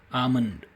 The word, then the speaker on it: almond: It is Is it almonds or almonds? The standard pronunciation is almonds, where the l is usually silent.